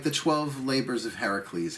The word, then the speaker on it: Heracles: So rather than take the journey, right, rather than like the 12 labors of Heracles. Heracles is the Greek pronunciation, I believe. Oh no, I know that to be true.